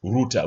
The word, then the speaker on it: router: So for the Americans it is router for the British it is routter. Which route? Which router?